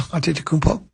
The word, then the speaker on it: Antetokounmpo: Antetokounmpo. So you don't just say that Greek kid? No, I don't say that Greek kid. So Antetokounmpo, am I saying it right? Yeah. Antetokounmpo.